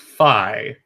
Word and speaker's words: Fi: Feet sucks. Motion control. Like it's just horrible. It's pronounced Fi.